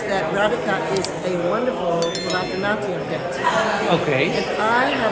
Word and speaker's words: Bharatanatyam: Bharatanatyam. Yeah, pronunciation is good.